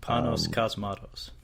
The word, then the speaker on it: Panos Cosmatos: Panos Cosmatos.